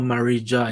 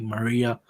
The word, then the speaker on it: Marija: So it's not Marija, it's like Maria, like that.